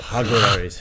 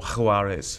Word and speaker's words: Jaguares: They're a definite shot, but the Jaguaris have been massively improved this year, haven't they? I prefer more H in your pronunciation of it. Jaguaris. And then you just roll the G a little more. Jaguaris.